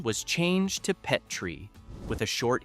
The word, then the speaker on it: Petrie: version of the character pronounced his own last name Petrie with a long e like the dish.